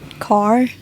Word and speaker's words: Kaur: like I don't know I guess it's car you proun it like I don't know but it's spelled k a r which yeah cuz it sounds different in English oh than in my language so that's like your